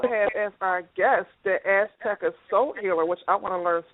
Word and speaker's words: Azteca Soul Healer: Azteca Soul Healer, what does that mean?